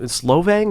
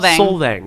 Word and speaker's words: Solvang: We were at Wells and Sarah's wedding out in Slovang. That's how you pronounce it. Solvang, and it was just beautiful.